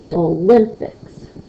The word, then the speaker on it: Olympics: So is my stress on the O or is it on the limp? Olympics. Hopefully you heard that it's on the limb part of it. And so that would be a second stressed syllable word.